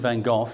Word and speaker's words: Van Gogh: of it in history, Vincent van Gogh, or Van Gogh, depending on how you want to pronounce it, in his lifetime, he sold $2,000 worth of paintings.